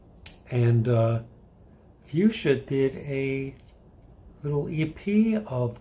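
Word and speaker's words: Fuxa: I believe it's pronounced Fuchsia. It's spelled F-U-X-A, and it's pronounced, I believe, Fuchsia.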